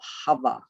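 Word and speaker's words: Havah: and it is also called the place of hover h-a-v-a-h which all as we were discussed earlier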